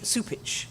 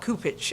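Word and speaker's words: Cupich: his name it does he pronounced to see su pitch not ku pitch okay Archbishop Cardinal ku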